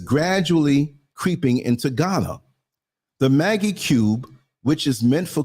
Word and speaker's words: Maggi: of food seasoning particularly how do you pronounce it Maggie cubes it's m a GGI Maggie cubes as a butt enhancement